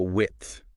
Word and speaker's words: width: H how about width? It seems straightforward enough, but that fifth at the end can trip people up. Oh, yeah. It's a sound that a lot of languages don't have. It takes some practice. It does. But Katherine does a good job of breaking it down, you know, showing you where your tongue should go, how the air should flow.